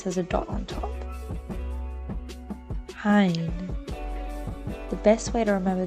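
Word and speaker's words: ع: As this letter, Ain, sounds like I, you can easily connect the two together. Don't mistake it for an E sounding letter.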